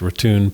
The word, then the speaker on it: Raton: Before very long, we got a ride in a truck, which took us over the Raton, pronounced Raton Pass, on the route of the old Santa Fe Trail to Raton, New Mexico.